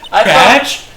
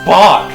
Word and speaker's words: Bach: They used to call me little b little little Little Batch. Yes. Batch. It's pronounced Bach.